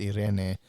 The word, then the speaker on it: Irene: It's Irene. All right. But it's Irene. That's how she would pronounce it because she's from Mexico. Right.